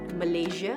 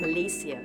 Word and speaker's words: Malaysia: It's not Malaysia, it's Malaysia.